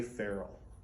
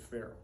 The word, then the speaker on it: ferrule: to the whole mystery this is called a ferrule just like a feral cat that's exactly how you pronounce it feral uh if you break